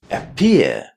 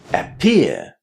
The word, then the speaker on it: appear: Appear. Appear. The second syllable of that word is pronounced as peer.